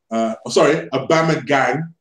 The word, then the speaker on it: Aubameyang: Anyway, why is Wenger giving Aubameyang, Aubameyang, let me say it properly, that's the way